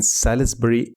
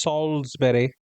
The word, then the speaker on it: Salisbury: when he went to the Palace Theatre in Salisbury, England. And there were a lot of people who I think it's pronounced Salisbury. Ah, my bad. Yes, you're right. Salisbury, England.